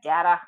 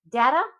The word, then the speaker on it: data: Data data I say both data and data data is more North American pronunciation and data is more British.